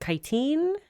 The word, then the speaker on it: chitin: I know chitin is actually how you pronounce that word instead of chitin.